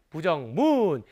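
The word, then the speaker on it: 不: 즉 원래는 뿌가 사성 글자입니다만 뒤에 따라 붙는 단어의 성조가 사성일 때는 성조가 변해요. 어떻게? 부 이렇게 이성으로 변화된다는 점 꼭 기억하시기 바랍니다.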